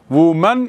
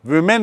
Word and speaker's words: women: Woman is बहुवचन and women is एकवचन, लेकिन उच्चारण देखिए थोड़ा, वुमन और वुमैन नहीं है, विमेन नहीं है, विमेन है, विमेन।